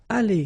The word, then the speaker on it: allées: So the good news is that phonetically it's aller here, aller, aller, aller. So it's the same. You don't pronounce this final you don't pronounce this final S here.